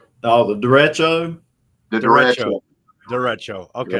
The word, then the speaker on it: derecho: Derecho. Okay, Right, that's the yeah, official pronunciation.